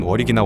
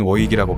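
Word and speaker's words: Warwick: 끝에 괴물이 되고 말았다이 워윅의 정확한 발음은 워릭이나 워릭에 더 가깝다 뭘 왜 키라는 지명이 영국에 존재하며 실제로 어리기나 워윅으로 발음하고 있다 하지만 미국인 중에서는 스펠링 그대로인 워윅이라고 발음하는 경우도 많은 편이기도 하며 영어 스펠링으로 보면 워윅도 맞기도 하다 3 워윅의 충동작은 마이클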